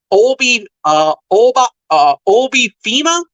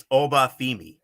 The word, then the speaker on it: Oba Femi: He went up against Obi Fima. If I pronounce that correctly, it's Oba Femi.